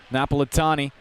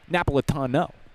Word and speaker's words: Napolitano: Napolitani rifles it in. Excuse me, Napolitano. My grandma would be disappointed in me if she knew I was pronouncing an Italian name wrong.